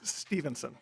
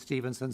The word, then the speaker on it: Stephenson: Chair, it is Stephenson. And Representative Macklin, I've had the same issue. You look at the way his name's, I know people that pronounce it Stephen, but he says it's Stephenson, so that's why I've been saying it that way.